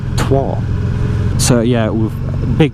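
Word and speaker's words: Troyes: uh yeah that's how I pronounce it t-r-o-y-e-s trois so yeah with a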